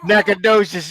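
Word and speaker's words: Nacogdoches: that's the Louisiana team nacad docious no is that how you say it nacad docious yeah I got to think about it like it's naad docious all right and then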